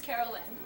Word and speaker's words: Carolyn: I don't know if it's Carolyn or Caroline. It is Carolyn.